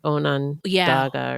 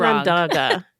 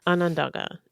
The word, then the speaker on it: Onondaga: us the pronunciation of Onondaga, which we were pronouncing wrong. I think we were saying Onondaga or something. Whatever it was wrong. Onondaga. Yeah. Onondaga.